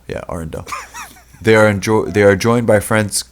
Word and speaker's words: Arendelle: Wait, it's Arendelle. Yeah, Arendelle.